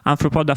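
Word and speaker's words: Arthropoda: State University, and the director of both the Anthropoda, this is how you pronounce it, Anthropoda Foundation and the Animal Welfare Economics Working Group.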